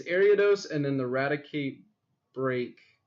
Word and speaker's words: Ariados: Also, I've seen a a really good deck using ariodos. I swear I could pronounce Pokemon names. They're just hard sometimes. It's Ariados and then the Radicate Break.